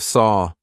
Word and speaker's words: saw: or saw I hear a lot of Saw but it's not it should rhyme with door door and saw and War should all rhyme they should all rhyme